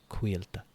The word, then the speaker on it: Quilta: What I was saying is that the starting syllable quilt, the qui, that's kind of the sound. Quilta, quilta. Not the full word quilt.